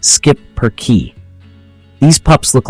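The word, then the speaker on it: schipperke: charm let's talk about the shipper key it's pronounced skip per key these pups look like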